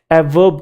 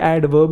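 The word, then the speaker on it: adverb: तो अच्छा, ये ध्यान रखना, ये ए और वी के बीच में डी साइलेंट नहीं होता। कुछ लोग इसे भी एवर्ब कह रहे हैं, एवर्ब, है ना। इतना भी कूल नहीं बनना, इतना रैपर डैपर भी नहीं बनना। एवर्ब, एवर्ब नहीं है, ये एडवर्ब ही है।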